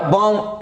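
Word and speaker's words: bomb: So next rule is your rule number 4, English words में बी से पहले एम आने पर बी हो जाता है साइलेंट, तो सभी में देख रहे हैं बी से पहले एम आ रहा है, बी से पहले एम, बी से पहले एम, बी से पहले एम, राइट, तो बी हो जाएगा साइलेंट, समझ लो बी है ही नहीं, समझ लो बी है ही नहीं, तभी आप इसको पढ़ पाएंगे, राइट। सो बॉम्ब है तो ये क्या बॉम्ब, ऐसा तो अगर देखे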